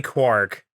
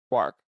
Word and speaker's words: Quark: It's definitely Quark. Quark, like the piece of matter.